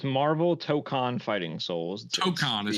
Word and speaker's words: Tokon: So T-Mac, why don't you tell me how you pronounce it? What is the full title? It's Marvel Tokon Fighting Souls. Tokon is how you say it.